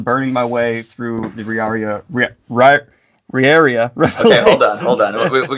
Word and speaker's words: Riyria: Most people say Riyria, and then other are Riyria or something like that, but it's actually Riyria is how I pronounce it.